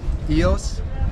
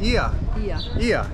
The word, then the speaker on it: Oia: Ios? Did I said it wrong? You said it wrong. Ia. That's how you say it.